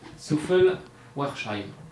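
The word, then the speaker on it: Souffelweyersheim: Souffel-Weiersheim. C'est pas trop mal, non? Souffel-Weiersheim. Souffel-Weiersheim, comment tu le dis? Souffel-Weiersheim. Ah d'accord, tu prononces pas le W en fait. Non. Souffel-Weiersheim.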